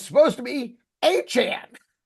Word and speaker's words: Etienne: It's pronounced H and. It's got that Creole that Creole vibe. We've known H and. We we used to think it was A chain.